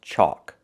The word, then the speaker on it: chalk: This word is chalk. It has a different spelling. It has the a l where the L is silent. Chalk. It makes the O sound like walk and talk.